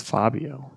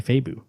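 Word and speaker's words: Fábio: That's Fabio. No, me and Alex looked it up. That little tilde, you say Fabu. Fabu. Fabu Moon.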